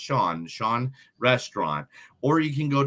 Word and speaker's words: Sian: You can find them online at Sean Sushi, which is SIAN, but it is pronounced Sean Restaurant.